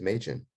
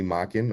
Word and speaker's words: Machen: lamborghini and ferruccio and my last name is majon and i also used to watch speed racer you got the mach 5. there's a lot of just the speed the way it's mage is spell that looks like mock and people call me mocking all the time and just think it says mock so it's kind of